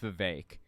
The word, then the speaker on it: Vivek: And he talked about the fact that Vivek Ramaswamy, I'm sorry, his name's pronounced Vivek.